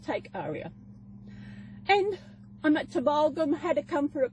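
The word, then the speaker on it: Tumbulgum: And I'm at Timbalgum.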